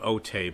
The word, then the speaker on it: Otay: for the usa otay it's spelled otay but we say it otay there to the left